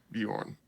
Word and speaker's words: Bjorn: Do you pronounce the B? It's like a blending. It's like a half silent B, bro. Like Yeah, Bjorn. yeah, Bjorn.